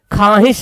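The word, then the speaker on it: خواہش: नहीं जाता है देखिए खवाहिश में लिखा हुआ खवाहिश देखिए है ना वाव लिखा हुआ है लेकिन हम क्या बोल र खवाहिश वाव साइलेंट हो रहा खवाहिश लिखा हुआ है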